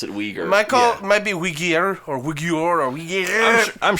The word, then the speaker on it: Uyghurs: any weakers oh what what seen any what uyghurs the the the muslim minority group that xi